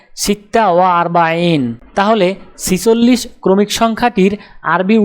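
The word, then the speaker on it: ستة وأربعون: উচ্চারণ হবে সিত্তা ওয়া আরবাইন।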